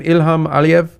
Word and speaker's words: Ilham Aliyev: Ilham Aliyev?